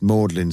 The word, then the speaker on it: Magdalen: Everyone, nearly everyone knows that this is pronounced Mordlin Street, as if it were a sentimental, tearful sort of street. That's what the bus drivers call it.